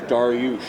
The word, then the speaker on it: Darioush: gentleman that I work for his name is darush and that is the pronunciation uh and and it's slightly spelled differently